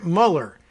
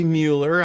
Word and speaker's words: Mueller: But Karen Mueller, maybe Mueller, I don't know if she pronounces it that way, but spelled the same way as Robert.